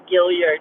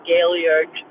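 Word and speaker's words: Gaillard: I don't know why I keep calling that place Gilliard instead of Gailliard. It's like once my brain, like it's an effort. It's it's an effort to. The very person who spelled like Gail, the name Gail.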